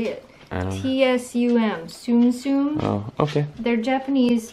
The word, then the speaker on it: Tsum Tsum: T-S-U-M. Tsum Tsum.